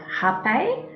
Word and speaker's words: rapé: The first medicine I would love to talk to you about is the medicine of hape or rapé. It is spelled R-A-P and a E with a thingy on top.